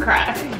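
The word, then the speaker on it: craic: Spell it C R A I C. So it's like just C R A I C. Crack.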